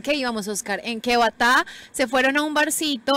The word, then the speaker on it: batá: nombre de nosotros es batá, signo de admiración, y después TA con una tilde, para que la persona en inglés la pueda pronunciar batá, en vez de Beira, y por eso pues salió el nombre.